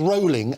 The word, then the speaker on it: Rowling: So what this story is not about, and it's Rowling, as in bowling, and that's how she pronounces her name, so revelation for everybody.